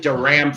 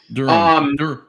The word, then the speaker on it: Durham: I mean, I think I think Darham, I always get that pronounced wrong because I always called it Duram for all those years, but I'm told that's wrong. Durham Durham. Okay. So, like so like Bull Durham.